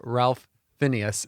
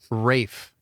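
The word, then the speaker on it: Ralph Fiennes: saffin sure uh kristoff walt as blofeld and ralph phineas as m rafe yep that's how you spell that yep and rey finds as m why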